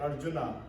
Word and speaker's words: Arjuna: By the way, Arjuna is not Arjuna, it is Arjun.